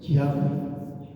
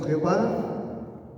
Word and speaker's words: Yahweh: La pronunciación en hebreo del nombre de Dios es Yahweh. Algunas Biblias lo tradujeron como Jehová, otras Biblias lo tradujeron como Yahvé, un poquito más cercano